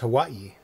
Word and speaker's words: Hawaii: It's pronounced Hawaii. Is it? Localized, yes. Because that's the original pronunciation of Listen the locals.